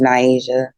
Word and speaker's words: Niasia: they get to know me they know it's Nyasia what a beautiful name what a beautiful name